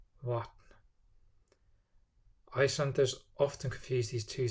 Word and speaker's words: vatn: And the V is somewhere between the English V and W. Vatn, vatn, vatn.